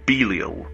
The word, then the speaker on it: Belial: Well, according to the internet, it's meant to be pronounced Belil, but I find Beiel phonetically distressing. So, I'm going with Bile.